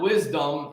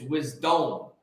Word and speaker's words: wisdom: I'm changing it because it's not wisdom, it's wisdom. If you look at the spelling, it's not W-I-S-D-U-M. So why are you pronouncing it wisdom? It's not wisdom, it's wisdom. Because it's wise in your dome.